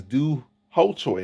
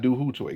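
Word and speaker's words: Doo Ho Choi: not a potato potato my name is do ho Choi it's not do who toy get it right in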